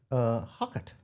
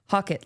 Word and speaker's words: Hocutt: Hockett. Hocutt. Hockett. Hockett, like you're hawking jewelry.